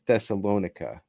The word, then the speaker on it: Thessalonica: Jews in Thessalonians thessalonisa I think it's thessalonica I'm going to go with that hard C heard and went and